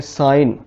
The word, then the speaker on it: sign: अगर जी के फौरी बाद एन आ जाए, जैसे SIGN, यहाँ जी के बाद एन आया है तो यहाँ पे जी हो जाएगा साइलेंट, इसे हम पढ़ेंगे साइन।